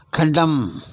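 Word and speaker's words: condemn: காம்பரபிள் அப்படின்னு சொல்லணும் நான் நான்காவது உதாரணம் கண்டம் கண்டம் கண்டம்னு சொல்லணும் கடைசியில் உள்ள எண்ணுக்கு உச்சரிப்பு கிடையாது கண்டம் குற்றவாளி என கூறு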